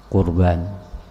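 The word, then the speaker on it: قربان: Pakai kop, bukan pakai kap. Kurban.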